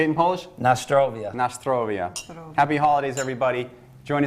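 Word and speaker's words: na zdrowie: Nastrovia.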